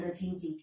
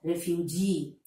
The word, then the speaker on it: refugee: So, they go out of their country and live in other countries as refugees, in refugee camps. So, refugee. Then, career, volunteer. So, the last syllable is stressed.